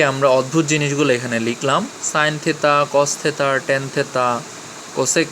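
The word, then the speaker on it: sine theta: এটার উচ্চারণ অনেকে সিন থিতা বলে, আসলে সিন থিতা না, সাইন থেতা, কস থেতা, ট্যান থেতা।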